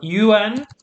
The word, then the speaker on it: un: So tu as, and remember un, the pronunciation is like a nasal sound.